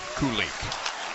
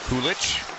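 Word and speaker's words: Kulich: Pronunciations for that but according to Sabers PR it is Koulik. I think Koulich. It's different if you grew up in the Czech Republic.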